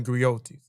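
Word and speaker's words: griotte: So, what is a griot and a griotis? A griot and a griotis is unique to Western Africa. The griot or jelly professional encompass many roles. The griot or the griotis, pronounced griot or grioti, have been referred to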